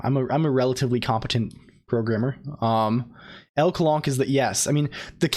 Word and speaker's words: LCOLONQ: L Colonq is the yes. I mean the canon pronunciation.